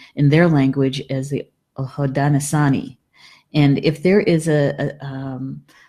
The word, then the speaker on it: Haudenosaunee: If you could sometimes let me know, am I pronouncing that correctly? Haudenosaunee.